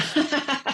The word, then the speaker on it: Dávila: Dávila. So Dávila. close, Dávila. Oh, I was going to write it down phonetically too.